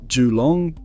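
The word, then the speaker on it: Geelong: Jalong, pronounced Jong, is facing a downturn that cuts across nearly every suburb.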